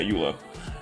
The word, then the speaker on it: Eula: Not Eula. That's not her name. Wait, is that her name? Wait a minute. No, I said it right. Yeah, Eula.